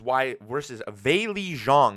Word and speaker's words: Weili Zhang: versus Weili Zhang is actually how you pronounce her name.